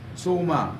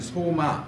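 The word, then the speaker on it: σῶμα: 그래서 이 소마 내지 소마 뭐 이렇게 발음할 수 있는데 이 소마는 그냥 단순히 우리의 몸을 가리켜요.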